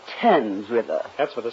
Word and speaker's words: Thames: into the Thames River oh Mr Mouse it's pronounced tens with us that's what the storm again I